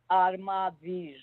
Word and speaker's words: Armavir: Armavir. Arabir. A R M as in Mary. Oh, M. A, yeah. Armavir.